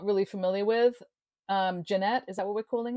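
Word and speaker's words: Genet: We also have something called, which I was not really familiar with, Jeanette. Is that what we're calling it? A Jeanette? Gannett? Janet, I think Janet. is how it's pronounced.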